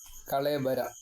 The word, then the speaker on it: കളേവരം: എൻ നാമ കീർത്തയൻ ത്യജൻ കളേവരം യോഗി വകാരം അവിടെ കളേവരം എന്നാണ് വകാരം വകാരവുമല്ല വകാരവുമഅല്ല ഇൻ ബിറ്വീൻ ആയിട്ട് കളേബരം കളേബരം കളേബരം അങ്ങനെയൊക്കെയാണ് ഉച്ചാരണങ്ങൾ അതൊക്കെ വേദം പഠിക്കുന്നവർക്ക് നുക്ക്